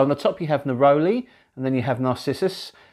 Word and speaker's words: neroli: as soon as i i read neroli or narrowly as it's pronounced but i will always be calling it their only you know you